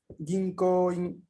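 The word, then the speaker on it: 銀行員: Ginkoin O es representa una O larga. Ginkoin, así que no lo vamos a pronunciar Ginkoin, sino Ginko. Vamos a darle un ligero alargamiento ahí en la pronunciación de la O.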